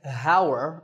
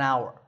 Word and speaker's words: hour: tour in number nine the spelling has an H at the start but that H is silent we don't say how're we say our the